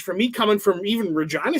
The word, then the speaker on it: Regina: It's like, yeah, it was quite a culture, change for me coming from even Regina, Saskatchewan. Yes, that's how it's pronounced.